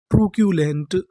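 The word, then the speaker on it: truculent: अगर आपको इंग्लिश में कहीं पर बीच में सीयू लिखा मिले तो हम लोग सीयू को पढ़ते हैं क्यू।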